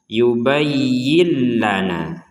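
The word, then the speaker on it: يُبَيِّن لَنَا: Sehingga cara membacanya harus dimasukkan seperti itu, bukan dibaca jelas ya.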